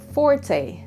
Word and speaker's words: forte: Hindi. It should be forte. Forte.